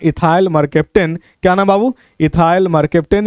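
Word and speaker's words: mercaptan: उस स्मेल का नाम है इथाइल मरकेप्टेन। क्या नाम बाबू? इथाइल मरकेप्टेन, या कहीं कहीं प्रोनाउंसिएशन मरसेप्टेन भी कह देता है, घबराना नहीं है। मरसेप्टेन कहिए या मरकेप्टेन कहिए, ठीक है बाबू।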